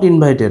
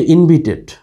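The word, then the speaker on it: invited: সি নাম্বারে অ্যামি answer করতেছে আই ওয়াজ নট ইনভাইটেড, আমি সেখানে আমন্ত্রিত ছিলাম না। তোমরা এটা ইনভাইটেড বলতে পারো, অনেকেই বলে, তবে এটার সঠিক উচ্চারণ হচ্ছে ইনভিটেড, রাইট?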